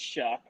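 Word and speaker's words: Shough: Yes, it's that last name's weird. It's for how it's spelled, but it's Shuck out of Louisville.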